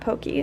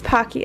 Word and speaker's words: Pocky: how do you say I'm Pocky or Pokey no it's not Pokey it's Pocky and they're also the